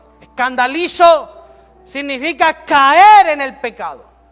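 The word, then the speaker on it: σκανδαλίζω: Tropiezo viene de la palabra griega escandalizo, con acento en la I, escandalizo.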